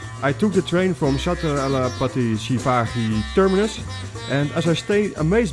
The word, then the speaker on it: Chhatrapati Shivaji Terminus: He picked me up close to the Chhatrapati Shivaji terminus and finally learned the right pronunciation. Chhatrapati Shivaji terminus.